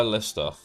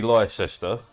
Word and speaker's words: Leicester: Why Leicester? Why not pronounced like Leicester? No, Leicester. Because there's an E.